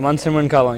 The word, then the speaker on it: Mansimran Kahlon: Today, our guest is, let me pronounce it correctly, and he will pronounce it, Mansimran Kahlon. Did I pronounce it correctly? Yes, you got it. Mansimran Kahlon, yes.